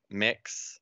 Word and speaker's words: Mx: forms and stuff and i learned from my head of edit on hughes recently that it was mixed so it could be pronounced mix so i think quite